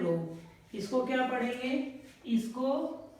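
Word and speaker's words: ρ: Resistance वाले derivation में क्या आया है, रो। इसको क्या पढ़ेंगे, इसको, इसका प्रोनाउंसिएशन होगा रो।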